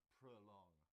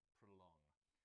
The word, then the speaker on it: prolong: It's got 2 syllables. The stress is on the second, and so the O in the first part sounds like prolong, prolong. Anything else you can tell us, Georgie?